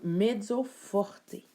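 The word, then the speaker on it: mezzo forte: l'espagnol entre autres euh le E va se prononcer comme un e donc medzo Forté medzoorté medzo veut dire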